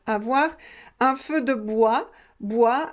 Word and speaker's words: bois: un feu de bois bois attention ne prononce pas le s final un feu de bois avec les bûches buch